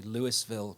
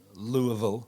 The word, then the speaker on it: Louisville: in a town called, we would call it, say, Louisville, but Louisville is one of the local ways. I've been taught phonetics when I've been over there. Louisville is one of the ways of pronouncing it. There are 3 ways.